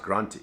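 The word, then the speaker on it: Granthi: it but it's pronounced granti same thing it's like sounds like grant and so I was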